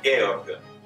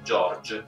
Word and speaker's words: Georg: Infatti è l'unico compositore del quale con i miei studenti in classe accetto una doppia pronuncia del nome. Mi accontento infatti sia dell'originale Georg Händel sia dell'eventuale George.